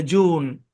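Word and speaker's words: June: জিউন হওয়ার কথা ছিল, কিন্তু ইউ এর আগে যে আছে, এই কারণে ইউর সাউন্ডটা উ হবে। ইউর সাউন্ড কি হবে? উ হবে, জুন।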